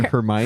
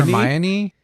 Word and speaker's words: Hermione: Potter from Harry Potter hermion Hermione yeah I can't say it it's three syllables Hermione there you go it